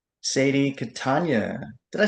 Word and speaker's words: Catania: A lot of people say Catania, but my grandmother was very, quick to correct people that it's Catania.